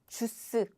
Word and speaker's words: 주스: It's 주스. It's how Korean people pronounce juice in English.